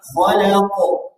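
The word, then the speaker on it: خلق: min syarria min syarria khalaq khalaq khalaq khalaq min syarri Maa khalaq Min syarala ada dicatatnya di bawah dijaga pengucapan tebal tipis pada khalaq dan Falaq nah dijaga Nah itu sudah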